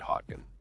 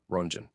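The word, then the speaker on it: Röntgen: The person who discovered X-rays was a German physicist named Wilhelm Conrad Hodkin. Do you say it like that? Let's check how it's pronounced in German. Come on. Come on. Come on. Runen.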